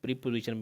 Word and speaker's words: preposition: तो यहाँ पे वैसे इसकी प्रोनाउंसिएशन जो है वो प्रेपोजिशन है। ठीक है, प्रीपोजिशन भी कई लोग पढ़ते हैं लेकिन प्रेपोजिशन।